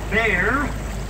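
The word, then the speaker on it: Bexar: And yes, ladies and gentlemen, we really and truly do pronounce it Bear, even if it is spelled B-E-X-A-R.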